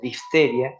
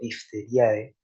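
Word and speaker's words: diphtheriae: Fíjense que yo digo difteria, no digo difteriae, digo difteria porque la e al final en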